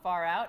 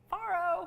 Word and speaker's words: Pharaoh: faroh and I'm like it's not far out it's Pharaoh what and then we had the like pronounce pharaoh to Siri Siri set us straight Farrow Farrow far out man okay now I'll never